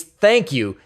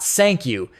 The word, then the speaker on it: thank you: It's thank you, not sank you. You gotta make the th sound, see?